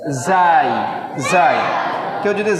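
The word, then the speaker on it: زاي: যদিও আমরা এটাকে যা বলি, সমস্যা নাই, তবে এর অরিজিনাল নাম হচ্ছে জাই।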